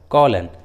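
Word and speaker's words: column: Last में रहता है, तब एम साइलेंट रहता है, एम का उच्चारण नहीं करते, जैसे ऑटन, कॉलन, सोलेन।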